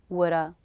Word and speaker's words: woulda: these reductions sound like natural American English shoulda woulda coulda shoulda woulda coulda these three words together